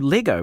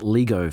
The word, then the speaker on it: Lego: But anyway, now our question this week relates to Lego, which I've recently learned to pronounce that way, having grown up calling it Lego for 50 years.